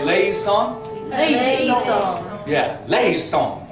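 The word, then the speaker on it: eleison: So that is, so it goes, Kyrie, le, e, son. Can we all say le, son?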